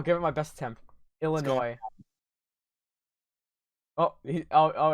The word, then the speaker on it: Illinois: hold on here hello if you pronounce the s in illinois one more time illinois i'm adopting this whole